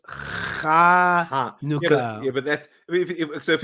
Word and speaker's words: Chanukah: It's not Honika, it's Chanukah.